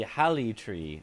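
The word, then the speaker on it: Haligtree: This could do with haligree, too. The G and Halig old English is pronounced like Y, so it should be hali tree, meaning holy tree.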